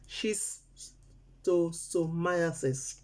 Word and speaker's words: schistosomiasis: and heavy for mouth the name be shisto schistosomiasis then they pronounce them she's too so myosis it be an infection